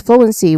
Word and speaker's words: fluency: Now the first part flu it sounds like flu like the past tense of fly f l e w something like that